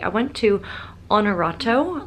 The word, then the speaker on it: Honorato: right i went to honorato like the word honor h-o-n-o-r-a-t-o and i had walked